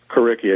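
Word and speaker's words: Curriki: it is it kicki kicki exactly Ki c r as in curriculum and iki as in Wiki all and so what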